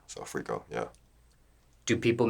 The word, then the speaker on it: Freco: pronounce your stage name frico like rico with a f in front of it so frico yeah do people mispronounce this they call much like i said franco fresco i think that's that's